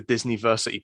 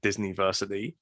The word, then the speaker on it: Disniversity: Yeah, well, basically at the minute it's the Disniversity Podcast, which is spelled, and I keep having to say this on podcasts, DISNI, versity as in university, not as in Disney.